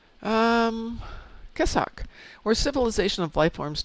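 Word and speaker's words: Kessok: So, I'm going to guess who are the queso or Kessuk in what? Stoaltch. Can you spell it? K E S O K. Um, Kesak or civilization of life fors native to the alpha or beta quadrant.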